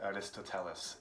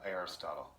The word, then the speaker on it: Aristotle: Western culture to Aristotle, which Koreans call, probably the pronunciation is more correct, Aristoteles. And you might know, if you have your native languages, another one, you might say it's something like that. The American pronunciation is Aristotle.